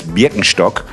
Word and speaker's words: Birkenstock: Okay, so the thing is, it's a German brand. And as a person who was born and raised in Germany, I definitely know that it's Birkenstock. Might be weird to you guys, but that's how we say it in German.